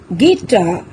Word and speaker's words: guitar: পাইছানে বাৰু guest guard guitar guess tongue guilty building in these words which letter is silent yes U is silent in every word let's find out some